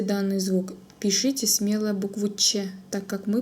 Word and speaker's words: Ч: В татарском языке Ч произносится так же, как в русском языке в слове щи. Щи, Ч, щ, щеби, щещек.